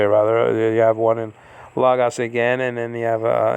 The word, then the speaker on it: logos: So when you see the word logos, you see the acute marker is it's right over the Omicron. It's right over the O. And it's like pointing to 7 o'clock on the clock, on the analog clock. Okay? That is telling you that you're to pronounce this la, or something to that effect, and not law, like that.